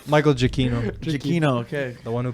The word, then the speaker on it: Giacchino: I'm saying it the revisiting Italian way, the way it was meant to be pronounced. Giacchino.